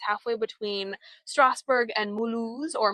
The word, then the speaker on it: Mulhouse: It's halfway between Strasbourg and Mulhouse, or Mulhouse, if you use the German translation or pronunciation, and a little bit from Colmar.